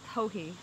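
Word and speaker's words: Joji: Hohe Locatelli has a beautiful Hohe.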